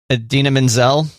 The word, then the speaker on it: Idina Menzel: right there it is did you see adina menzel that's how you say her name right see john travolta ruined